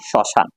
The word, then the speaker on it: শ্মশান: আমরা মফলার এক নম্বরটা নিয়ে আলোচনা করেছিলাম যে মফালা শব্দের শুরুতে আসলে মফালা উচ্চারিত হয় না। যেমন স্মরণ স্মরণিকা স্মৃতি শ্মশান।